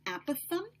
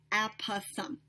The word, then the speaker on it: apothem: I know that there is different pronunciation depending on where you look. The way that I learned it, the way that our textbook pronounces it, apothem. So let me say that one more time, apothem.